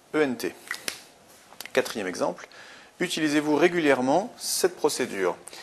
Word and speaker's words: régulièrement: Quatrième exemple, utilisez-vous régulièrement cette procédure? Régulièrement, on a une prononciation en EMant, donc un seul M. Régulièrement, E, M, ENT.